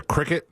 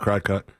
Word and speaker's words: Cricut: I run into things like this when I want to like make stuff like on the Cricut uh or it's spelled cry cut. Some people call it cry cut.